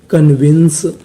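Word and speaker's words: convince: आई एन C wins क्योंकि आखिरी में इ का उच्चारण नहीं करना तो मीनिंग क्या बन गई कन्विंस कन्विंस कन्विंस का मतलब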